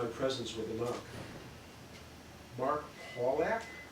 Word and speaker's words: Pawlak: "Mark Pawlak?" she inquired, stressing the first syllable, speaking with a distinctly British accent.